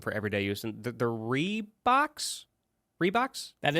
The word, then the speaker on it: Reebok: And they're Reeboks. Reeboks? That is how you say that name, Reebok.